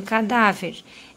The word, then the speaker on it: cadáver: frente como por exemplo em cadáver essa daqui é a última sílaba essa daqui é a penúltima como essa daqui a mais forte ela é uma palavrinha